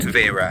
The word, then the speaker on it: Tavira: But I think it's called Tavira, and we were kind of read about it.